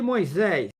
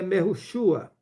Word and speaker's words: Mehushua: Mas o arcanjo Micaul, quando contendia com o diabo e disputava a respeito do corpo de Moisés, o nome também não é Moisés, é Mehushua, não ousou pronunciar juízo de maldição contra ele, mas disse, aquele escreve, o Senhor te repreenda.